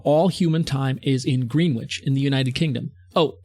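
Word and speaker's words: Greenwich: recognized base of all human time is in green witch in the United Kingdom oh excuse me despite being spelled like green witch for some reason only known to people from England and Boston is pronounced greenich with an extra e and an entirely Superfluous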